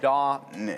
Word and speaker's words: Da Nang: Da Nang. Dang.